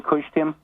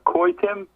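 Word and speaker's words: Kushtrim: And am I pronouncing that name correctly, Kushtim? Actually, it's Koi Tim, but that's okay, Mike.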